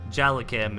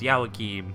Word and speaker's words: Joaquin: you'd be like hey it's not pronounced jela Kim it's yah Joaquin and I try to